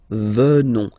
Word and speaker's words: venons: Final S not pronounced. So O-N, on, venons, venons.